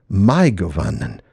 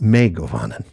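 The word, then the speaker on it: mae govannen: Just remember that the ae dip thong is pronounced according to appendix f as the vowels in English ry not rey. So my goan not may goanan.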